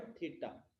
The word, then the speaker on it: theta: तो वो थीटा जो है, सबसे पहले जो थीटा वर्ड है, थीटा इज, ये जो सिंबल है इसको हम प्रोनाउंस करते हैं थीटा बोल के.